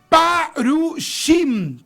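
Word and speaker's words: פרושים: Fariseo en hebreo se eh eh se escribe así, parushim, parushim shim, no con c, sino que con s, que es como el cinco, se escribe así, parushim.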